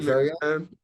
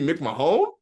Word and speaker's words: McMahon: Jim McMahon? McMahon? You mean Mick Mahone? McMahon, brother. It's pronounced McMahon. Bro, that's spelled Mick Mahone. It's pronounced McMahon.